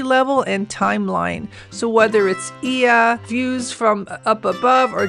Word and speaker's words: Oia: as they are in Ia. The Oia is pronounced with an “E.” Back on board, I would like to come back and try to get to Ia. This time in Santorini, I learned Ia really takes planning —